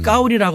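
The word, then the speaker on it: 高丽: 시진핑 주석이 만나기 전에 7인자인 장까오리 그 사람의 한자 이름이 우리의 고려시대의 고려랑 같습니다. 발음을 까오리라고 하는데 나는 까오리 고려라는 이름을 갖고 있어.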